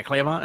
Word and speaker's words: Cleavon: Cleavon? Is that how you pronounce his name? Cleavon? Yeah, Cleavon.